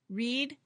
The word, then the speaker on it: read: Read, read. Now, look, the spelling is the same, but the pronunciation is different. Read in the present and read in the past sounds like the color red.